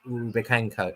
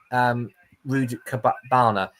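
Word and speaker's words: Rudakubana: It's the Southport murderer, Axel Rubikenko. Well, I've pronounced his name wrong already, but yeah, it's Axel Rudikabana is the plank of the week by a million miles for me.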